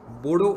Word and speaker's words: बोडो: ये लोग अपने आप को बोरो कहते हैं, लेकिन अब डी लिखा जाता है इसलिए हम सब बोडो कहने लगे हैं। Actual pronunciation is borrow.